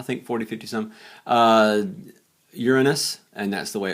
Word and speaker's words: Uranus: 50 some I think 40 50 some uh Uranus and that's the way it's pronounced for Real uh Uranus has several Neptune